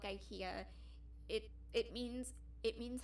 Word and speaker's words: IKEA: a swedish company um how you would pronounce it in swedish is ikea um okay there is there's actually a lot of brands there's actually a lot of companies that were created by swedes um uh ikea sorry um it's pronounced ikea in swedish um so ikea which